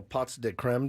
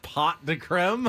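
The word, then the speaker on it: pots de crème: It's pronounced. Listen to this pot de creme. Is it really? Yes. It's not pot de creme. It's just pots.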